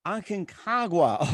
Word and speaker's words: Aconcagua: I'm having a hard time trying to pronounce the name. Aconcagua. Was it? Aconcagua. Aconcagua.